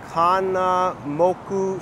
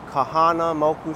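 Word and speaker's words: Kahanamoku: the name at the Kana moku streets no Kahana moku Street Kahana muku Street there's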